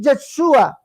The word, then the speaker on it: Yeshua: es una transliteración que la verdadera pronunciación es yeshua o yeshua no es una transliteración